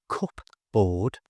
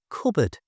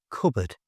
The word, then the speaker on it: cupboard: To say it correctly, just don't pronounce the P. It's not cupboard, it's cupboard. You try cupboard.